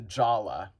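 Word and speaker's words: Jaller: And so, get this, Jala gets renamed to Jala, but with a silent R.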